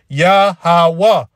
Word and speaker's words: Yahawah: eye all right so there's no JS man so it's yahawa the name of the